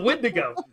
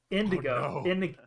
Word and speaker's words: Windigo: in ago windigo he's a wind it's a windigo no indigo oh no i've been trying to say his